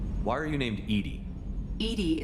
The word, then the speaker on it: EDI: are you named edie edie is the phonetic pronunciation of edi that is an acronym for enhanced defense intelligence okay where are you